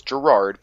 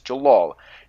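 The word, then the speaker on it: Jellal: dubs some of them will have say it's Gerard but it's not it's jalal and the official translation of the manga which I'm holding in my hand right now says Jalal their argument is dawn okay every episode so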